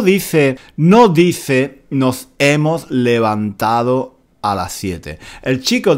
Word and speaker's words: levantado: chico dice nos hemos "levantao", nos hemos "levantao", nos hemos "levantao" "levantao." En el lenguaje coloquial... muy a menudo no decimos la d del participio pasado, levantado.